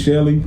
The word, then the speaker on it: Chelly: that's actually your name so your name is shelly spelled like that uh my name is